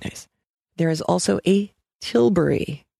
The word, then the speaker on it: Tilbury: it's still quite nice there is also a Tilbury t IL bu ry this was a lightweight